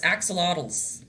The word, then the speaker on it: axolotls: Did I pronounce axolotus? Axolotls.